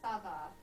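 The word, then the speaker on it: ça va: to tell you to pronounce the C with the c as like a s noise like Sava um but when you go to the northern part they pronounce it with like a a CH kind of like like sh and everywhere else in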